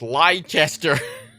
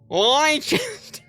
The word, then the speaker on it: Leicester: It's Leicester. Leicester. That's very funny. Or Yorkshire. They already overpronunciate the Shire.